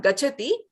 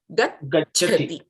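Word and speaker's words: गच्छति: You have to wait, pronounce the ch, and then go to the mahaprana cha. So it is not gachati, but it is gacchati.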